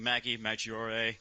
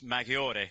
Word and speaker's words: Maggiore: got the the Peugeot everyone's been saying Maggie Majora it's just like it's it's Maggiore it's you gotta you gotta pronounce it you've got to use the Italian language there fellas come on